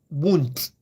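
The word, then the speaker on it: Wundt: h e l m then won't won't spell w u n d t w u n d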